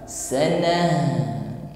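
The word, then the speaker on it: سنة: Khamsina alfa sanah ditutup dengan huruf ta marbutah, maka ketika ta marbutah di akhir ayat menjadi huruf ha. Sanah kita tampakkan sifat huruf ha, hamas dan rokhawah, kita alirkan saja. Sanah, jadi bukan sana, ya, beda sana dengan sana.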